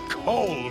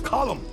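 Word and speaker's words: Colm: It's not Cole. Col. It's column. In Ireland, we say column.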